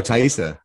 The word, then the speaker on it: Taissa: daughter plays glattus uh Taissa is that how you say it I lost you oh TAA yeah is that right yes TAA fora yeah she's incredible in